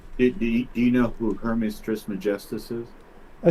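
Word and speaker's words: Trismegistus: was considered globe do you know who Hermes trisma Justice is I say again do you know who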